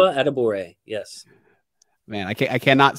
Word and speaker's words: Adebawore: Adebawore. Adebawore.